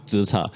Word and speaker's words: TZECHAR: I mean, there is a proper pronunciation, which is TZECHAR, and that's how we pronounce it here.